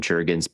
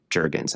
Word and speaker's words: Jurgens: Jurgens, I always say it like it's European. Yeah. Jurgens.